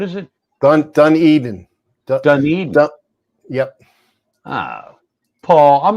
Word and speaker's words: Dunedin: is it what is it done done Eden Dunedin yep ah Paul I'm not coming I'm not